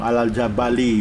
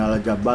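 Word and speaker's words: الْجَبَلِ: naik ke atas gunung Al jabali bacanya bukan al-jabar Wal adzaa Bali selanjutnya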